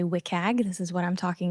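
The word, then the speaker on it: WCAG: these web content accessibility guidelines often it is pronounced wiag very lovely acronym but if I say wiag this is what I'm talking about it is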